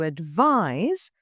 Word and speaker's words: advise: advise is a verb its pronunciation is sounds like a zed so to advise and it means to